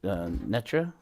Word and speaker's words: Netra: It It's Is it Netra? Yes. Oh, okay. Yes. Sorry. I think I said it, mispronounced it. Netra.